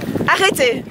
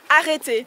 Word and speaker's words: Arrêtez: Arrêtez. Say it again. Arrêtez. Arrêtez. Exactly. There you go. Arrêtez. Arrêtez. Very cool if to roll that better? Ours. Yes, it's better. Yeah. Arrêtez.